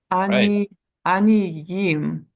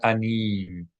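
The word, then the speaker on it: עניים: If you see a vowel point under a yud, under the letter yud in Hebrew, then you can know for certain, you can know with certainty, it should be pronounced like a consonant Y and then the vowel underneath it. Aniyim and not anim. A lot of people would read this aniyim, but it's aniyim with a Y sound.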